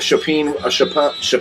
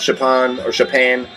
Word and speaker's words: Chopin: And then I picked up a Chopin record, which I absolutely love. Chopin. You know, a lot of people pronounce it Chopin, whatever.